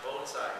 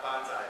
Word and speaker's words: bonsai: And by the way, it's pronounced Bonsai, not Bonsai, but I always slip back into it because I'm from Brooklyn.